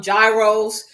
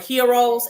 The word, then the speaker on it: gyro: are familiar with um we call them gyos but they're called what Heroes actually it's the correct pronunciation a Greek sandwich it